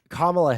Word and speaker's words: Kamala: black right the reason Kamala Harris is uh Kamala Harris I need to say her name correctly